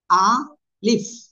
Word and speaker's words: ألف: এটা উচ্চারণ করার জন্য আপনার জাস্ট কি করতে হবে? আ লিফ।